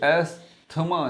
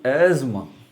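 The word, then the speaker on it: asthma: ये एस्थमा नहीं है, ये T और H जो है ये साइलेंट है। अब अगला स्टेप आता है, इसको पढ़ेंगे एस्मा, नहीं एस्मा भी नहीं पढ़ेंगे, एस की आवाज़ नहीं आएगी, जेड की आवाज़ आएगी, एज़मा।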